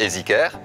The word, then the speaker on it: EasyCare: Quoique, bon, EasyCare, hein, madame, ça se prononce juste EasyCare.